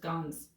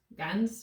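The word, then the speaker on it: Ganz: but also from joseph gonz which we're gonna am i saying his last name right g-a-n-z i think that's correct guns scans guns i think it's guns anyways yeah i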